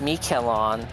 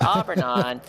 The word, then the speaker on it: Aubernon: get it right yeah i think at that point it was me kill on and i understand that entirely it's like that's kind of pronounced but aubernon arbor and if you could pronounce auburn and aubergine you could probably figure out oh yeah no it's